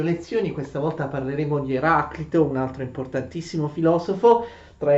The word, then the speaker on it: Eraclito: Eraclito a volte viene pronunciato anche come Eraclito, non è sbagliato, anzi forse si dovrebbe proprio pronunciare Eraclito, perché noi generalmente pronunciamo i nomi greci secondo un accento latino e in latino si dice Heraclitus, cioè quella I in latino è lunga, quindi sarebbe più corretto pronunciarlo Eraclito, però l'uso ci spinge a pronunciarlo come Eraclito, perché questa, diciamo, è la forma più comune.